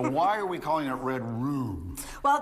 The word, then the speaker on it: Red Rum: So why are we calling it Red Room? Well, there's a line above that U. That knife is a line, and that makes that a long U sound.